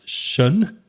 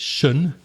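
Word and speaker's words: -tion: So the suffix, the bit that comes at the end could be t i o n, which is pronounced shun. Notice that weak form there, uh, so it's shun.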